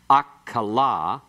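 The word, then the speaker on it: אָֽכְלָה: Notice that if you have okla, it's food. If you have akala, it's she ate. Notice the difference that the metheg makes. The metheg opens that syllable that in the first example is closed.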